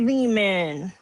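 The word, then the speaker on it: Lehman: It's like it's me Ari Leman. It rhymes with demon.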